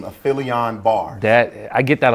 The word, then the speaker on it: aphelion: And like Aphelion is just a term. The right way to say it is aphelion.